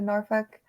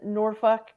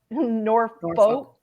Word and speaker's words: Norfolk: airport was that the Raleigh Durham no the Norfolk North Folk I can't even say it like that Norfolk Virginia okay n-o-r-f-o-l-k for the most part will